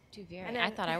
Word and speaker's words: Duviri: Duviri out loud is that's how you pronounce it, by the way. Duviri. Duviri. Duviri.